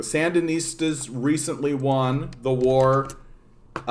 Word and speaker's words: Sandinistas: you guys don't know the um cenistas is that the sandinistas i knew i was mispronouncing the sandinistas recently won the war